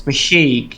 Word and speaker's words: The Hague: How the fuck do you pronounce this place? The Hague.